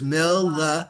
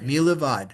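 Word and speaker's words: מלבד: It has the dogger, so it's milvad. Milavad. It wouldn't be milvad, it would be milevad. Right, milevad.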